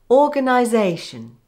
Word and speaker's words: organisation: The first syllable is given secondary stress, the second and third are weak, the fourth syllable is given primary stress, and the fifth is weak, making it sound like this. Organisation.